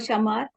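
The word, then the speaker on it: chamar: uh spell the word Shamar c-h-a-m-a-r summer anything okay Shamar is with the c there is no sh in Portuguese okay sure is always ch okay is no no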